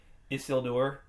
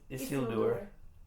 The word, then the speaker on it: Isildur: And last time you were saying Isildur. It's Isildur. See, that sounds the same to me. Actually, I think you may have been saying it right, and I may have been saying it wrong all this time.